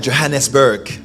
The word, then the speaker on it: Johannesburg: en Afrique du Sud à pour bien se prononcer à Johannesburg dis à ton voisin Johannesburg voilà il a